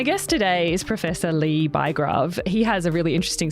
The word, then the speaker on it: Bygrave: Well, the Norwegians would sometimes say Bygrave, which actually... Bygrave, I love it. It sounds so good. Yeah. It actually means city grave or city diggings. So it's not a particularly uplifting surname to have. But I keep trying to insist on the English pronunciation, which is Bygrave. Bygrave, there we go. As in Max, but no S.